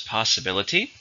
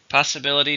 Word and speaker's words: possibility: time number four is possibility possibility just means something that is possible it's countable numb it has five syllable stresses on the third possibility possibility while it was a possibility